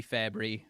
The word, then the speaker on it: Fabbri: to discuss the return of Jacob perrotta Robbie fabry I said it right this time uh ah